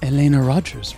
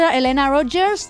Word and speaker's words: Elena Roger: So also in this part of the theater is Elena Rogers' room, who plays our Eva Perón.